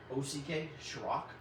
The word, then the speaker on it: Shryock: The first guest we have is only appearing as a speaker on Saturday night at the how do you pronounce this? SHRYOCK?